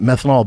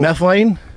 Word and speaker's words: methylene: And like then I stumbled upon uh was it methanol blue? That's not how you say it. What is the actual methylene? Methylene. Methylene.